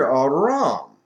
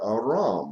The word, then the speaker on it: Arum: Both of these letters are silent letters. They take their pronunciation from the vowel point that goes with them, and that's why they sound the same.